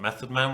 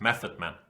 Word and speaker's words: Method Man: talked a lot about Method Man when playing against method chess even though it's not methodman it's Method Man because he doesn't pronounce the th if I am correctly